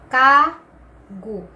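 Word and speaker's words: 가구: Kasi sabi dito, nasa pagitan ng dalawang vowels, A and U. So, magiging G. And then, yung last letter natin, U. So, kung bibigkasin natin ito ay kagu.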